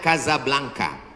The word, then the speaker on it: Casablanca: kuliah nama negaranya Maroko ibukotanya tulisannya Casablanca cara bacanya Kadzab langka Kaza artinya rumah Blanca artinya putih Kasablanka rumah warna putih bahasa